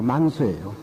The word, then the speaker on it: 만수: 가져와서 흩어뜨리는데 만수분타 최상일이라 만수는 범어로 우리가 발음으로 문수라 이러지만 범어로 만수입니다. 범어로 산스크리트로 만수예요.